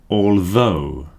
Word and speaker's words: although: The next group are pronounced O. This diphthong symbol here is pronounced O. Though, although. Now these are basically the same thing.